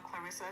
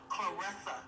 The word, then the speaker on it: Claressa: She said her name is Claressa Shields, not Clarissa. It's pronounced just like it's spelled, Claressa.